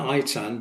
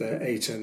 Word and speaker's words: Eitan: The book is about the central character is called Eton Rose spelled Ei Tan. Now I I pronounce that it tan but we're told that it rh it rhymes with spray tan in the book.